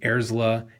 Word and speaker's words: Airs LA: also Enjoy let your Joe Airs LA Durkin know experience. that he should change that in the data page. Because VoiceOver is pronouncing it Airsla instead of Airs LA.